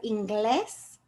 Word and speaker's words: inglés: So if, for example, the word inglés, it ends with an S, so it would naturally have been stressed on the I because that's the second to last syllable. But the stress is on the E.